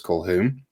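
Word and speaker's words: Colquhoun: His name is John Kolhoun. Uh which is spelled with there's a few Q's in there, but we don't pronounce them. So, it's Kolhon.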